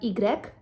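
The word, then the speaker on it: i grec: and x is pronounced as x y is pronounced as igrec and zed is pronounced as zed now saying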